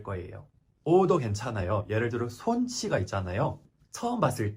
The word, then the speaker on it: 손: son처럼 생겨가지고 처음에 son이라고 부를 수도 있어요. 제가 최애하는 축구 선수가 손흥민인데 영국 사람들이 다 son이라고 불러요. 하지만 제대로 발음하기를 원하면 그냥 손 rhymes with bone, tone, cone 이렇게 얘기해주면 발음할 수가 있습니다.